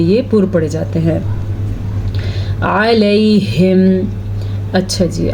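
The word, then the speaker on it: عليهم: ہیں۔ علیہم، اچھا جی، عین کے تلفظ کا تو آپ نے دھیان رکھنا ہے۔ علیہم پڑھا تو یہ لفظ اور ہے، یہ بھی قرآن مجید میں آیا ہوا ہے۔ الیہم کا مطلب ہے ان کی طرف اور علیہم کا مطلب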